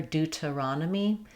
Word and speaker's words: Deuteronomy: In Deuteronomy, we stress on the raw syllable. Letters O say the A sound here. Dudronomy. You notice how I have a D for the letter T. We tend to flap that in American English. Other um English dialects would use a T there.